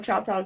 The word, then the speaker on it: Choctaw: So was this in, let me see, the Tales of a Choctaw Girl? Am I saying that right? I wasn't sure how to say it. Yeah, Tales of a Choctaw Girl.